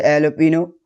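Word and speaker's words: jalapeño: जी कुछ foreign Spanish origin words में silent होता है। ठीक है? जैसे एलोपिनो और एक होता है मेरुआना। उसमें भी साइलेंट होता है।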